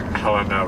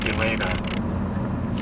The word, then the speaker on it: Helena: that I've been pronouncing Helena wrong my whole life. I always assumed the H was silent, so I guess it was a French city, so I always said Helena until someone corrected me and I felt stupid.